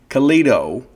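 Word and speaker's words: Calido: That's C A L I D O. Kido, right? Rhymes with Leo. I'm not going to sing it, but you know it. Uh, Kito Guitars based out of Lake Jackson, Texas.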